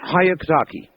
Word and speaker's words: Hyakutake: Can you pronounce it? Hyakutake.